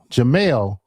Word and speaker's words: Jamel: It's Jamel, which is totally different.